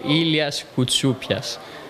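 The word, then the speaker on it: Ilias Koutsoupias: tuo nome e cognome Ma allora pronuncia è ilyas cuzzup pias e poi niente col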